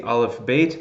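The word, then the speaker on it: אלף־בית: this lecture obviously is the olive bait that's how you know that's how we say in Hebrew right the oh whoops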